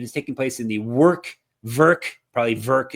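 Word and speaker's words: Werk: If you want to go to it, it is taking place in the Verk, it's pronounced, arena in Třinec, Czech Republic.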